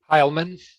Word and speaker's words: Hilemon: Hilemon. Hilemon, I'll have you get it right.